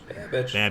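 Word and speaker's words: Babich: Babbage.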